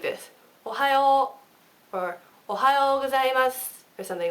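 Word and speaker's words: おはようございます: Ohayo, or ohayo gozaimasu, or something like that. Okay? So try, I'll say it slow for you. Ohayo gozaimasu. So it's like that. It's not ohayo gozaimasu.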